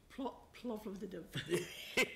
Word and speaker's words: Plovdiv: We had a very successful campaign in, well, yes, I can't pronounce how do you pronounce that, Marie? Plovdiv.